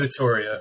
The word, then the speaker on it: Vittoria: Vittoria. Okay, Vittoria.